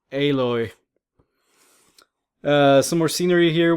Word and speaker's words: Aloy: Sounds like Alloy, but I think it's actually pronounced Aloy.